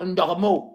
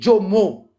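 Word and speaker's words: Djomo: Pas Ndormo. C'est Jomo. Jomo.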